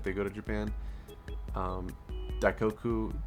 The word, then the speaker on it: Daikoku: But if you were going to see a JDM car show, the biggest recommendation would be Daikoku parking area. That's spelled D A I K O K U parking area.